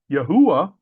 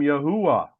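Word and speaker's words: Yahweh: when the father's name which I pronounce as Yahwh was removed. So let me read this with the father's name as I understand it to be. then you shall know that I am Yahwh when I have dealt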